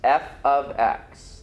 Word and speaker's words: f(x): Again, this is f of x. That's how we pronounce it.